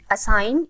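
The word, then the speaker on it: assign: इसमें के साइलेंट है असाइन इसमें जी साइलेंट है रेन इसमें भी जी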